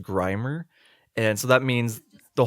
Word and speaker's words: Grimer: This pun doesn't even work because Grimmer's name is actually pronounced Grimer, and so that means the whole joke doesn't work because I was basing it off of like an incorrect pronunciation.